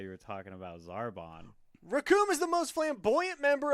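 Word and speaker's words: Recoome: The name's Raccoon, and it rhymes with doom.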